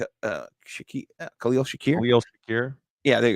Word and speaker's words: Khalil Shakir: did what what about uh I saw that shalil uh sh Khalil Shakir KH Shakir yeah there you go I'm saying